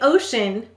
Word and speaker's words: ocean: all right our first word is ocean the ocean was at high tide today go ahead and say ocean how many syllables in ocean two we will say to